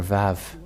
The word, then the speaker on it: Vav: So here is the letter Vav. The Vav. And this is the letter Vav.